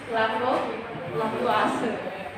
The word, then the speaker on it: Lavoisier: Bacanya, tulisannya Lavoisier, ya, tapi bacanya gimana? Lavoisier.